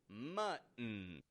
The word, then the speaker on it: mutton: I saying muten muten but rather mut we're using the gladle T in the middle folks the gladle T uhoh mut mutton it's all about stopping that tea and controlling your syllable stress muton so there you